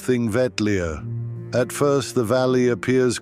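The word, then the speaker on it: Þingvellir: The road leads us first to Thingvella, pronounced Thing Vetlia.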